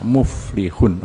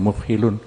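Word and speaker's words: المفلحون: bahwa ketika membaca , Anda mencapai kata muflihun, jangan katakan mufhilun, itu salah, itu ilal muflihun, 'lam' terpisah dari 'ha' sampai mencapai almuflihun.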